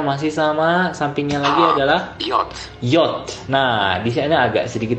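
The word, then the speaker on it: Jot: Tapi di bahasa Jerman dibacanya yacht karena huruf J ini akan dibaca Y dalam kata-katanya ya.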